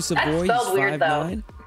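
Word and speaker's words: Savoie: Blue Jackets Matthew Savoy again perfect on the pronunciation Matthew said boys yeah it's kind of a weird spelling uh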